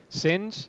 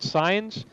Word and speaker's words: since: program every week since the pronunciation of this should be since not science but since it started